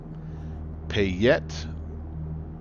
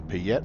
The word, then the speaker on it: Payette: off-track too far here pay yet river okay good deal I like to definitely pronounce that stuff correctly and every every region of the country has their own little their own little vernaculars there so the South